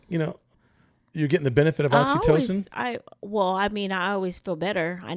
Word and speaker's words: oxytocin: kiss and my 20-second hug so that the oxytocin, is that how you say it? Yeah, it's oxytocin.